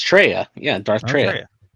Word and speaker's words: Traya: It's Treya.